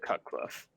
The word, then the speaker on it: Cutcliffe: Well, his name, last name rhymes with Rutcliffe, and his first name is the same as mine. It's David Cutcliffe, right?